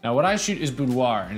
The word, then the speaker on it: boudoir: Now, what I shoot is boudoir, and it's a little bit of a misunderstood niche. Or you might pronounce it boudoir if you're from France, or if you're American and you wanna sound really fancy.